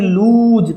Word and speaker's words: lose: कि LOSE लूज था। LOSE क्या था? लूज था।